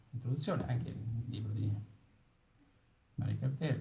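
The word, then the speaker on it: Marek Halter: Bene, c'è una introduzione anche nel libro di Marek Alter, che viene pronunciato alla francese, no?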